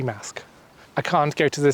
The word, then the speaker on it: Marske: If I keep calling it Marske, it's because it's just how it's spelt, but it's meant to be Marske.